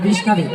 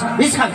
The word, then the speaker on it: বিশাখা: ও বিষ খাবে না বিশাখা বলো, বিশাখা।